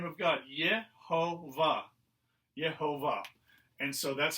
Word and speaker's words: Jehovah: of god ye ho jehovah and so that's how they began to pronounce it it was they combined the consonants of the name of god with the vowels of adonai which means lord and that's how they came